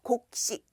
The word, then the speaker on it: 곡식: 곡식, 발음은 이렇게 하고요. 곡식.